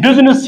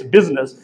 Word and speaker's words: business: Because in business, you remain silent, so it's business. And S gives the sound of Z, it's business, fine?